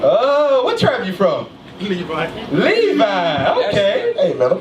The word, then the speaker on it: Levi: Levi. No, you said it right. Levi. You got it right.